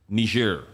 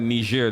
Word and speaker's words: Niger: don't know what is ner they think that you're just pronouncing Nigeria wrong yes you say no there's a nerian and there's a Nigerian yes two different people they look alike they